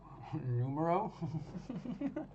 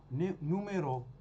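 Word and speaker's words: numéro: how to say number numero no okay exact same spelling as Spanish but not the same pronunciation hold on how should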